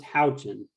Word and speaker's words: Houchin: Yeah, it's actually pronounced Houchin, but very few people get it right.